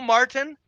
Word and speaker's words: Martin: remember Martin the show Martin Mar yes mar mar I'm going why do they do that to black folks this is a a national show that's glorifying the mispronunciation of the easy word Martin Martin did you like